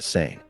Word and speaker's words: Seine: In Italian, the river is called Sena, while in French, Seine is pronounced with a single N sound.